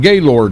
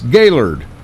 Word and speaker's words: Gaylord: And he said, because you're calling it Gaylord, and that's not how you pronounce it. It ain't? No, it's Gaylord.